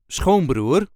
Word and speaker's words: schoonbroer: The emphasis here is also on the first syllable.